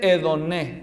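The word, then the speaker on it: ἡδονή: entonces placer en griego Cómo se dice en realidad se dice edoné porque es femenino el sustantivo en griego edoné hedoné es la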